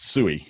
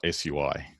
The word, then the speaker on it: SUI: And it's SUI, not SUI, because it's easy to say things like a long word like that with just a few syllables.